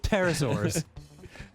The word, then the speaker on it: pterosaurs: The problem with pterosaurs. I know the P is silent, but I had to try to make it work.